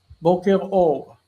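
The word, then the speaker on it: בוקר אור: The response to boker tov is boker or.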